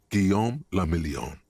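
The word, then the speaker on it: Guillaume Lemillion: meant only one thing guillaume lamillion if it doesn't rhyme you're not pronouncing it right out of the dazzling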